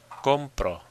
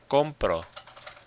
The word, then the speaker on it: compro: Compro. Compro. It's on that com.